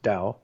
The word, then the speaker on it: Tao: spell that please yep t-a-o pronounced dao t-e pronounced day and